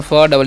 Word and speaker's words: feed: अब लिखा है FEED, एफ का उच्चारण फ, डबल ई का दीर्घ, डी से तो हो गया फीड।